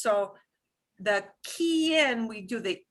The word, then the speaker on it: quien: Quien. Quien. Quien. And when we've got more than one vowel, here the U is going to go silent because it's Q-U-E or Q-U-I, right?